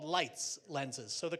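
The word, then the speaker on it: Leitz: Le a lenses although now they are called lights lenses so the correct pronunciation of the the company is lights and the reason that we have this name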